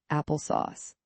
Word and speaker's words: Apple SOS: It was called Apple SOS, short for sophisticated operating system, and pronounced Apple Sauce.